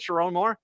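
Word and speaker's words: Sherrone Moore: Chiron Moore.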